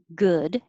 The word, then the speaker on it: good: like good so remember don't round your lips good your lips stay straight goo they would be rounded and make an oo sound so your tongue is